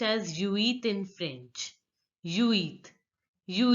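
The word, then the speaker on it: huit: silent in French generally generally the letter H is silent in French so you have to pronounce only uit so the pronunciation will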